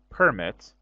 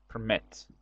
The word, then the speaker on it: permit: the verb permit and permit with the stress on the first syllable is a noun so permit as a verb meant permit uh permit somebody to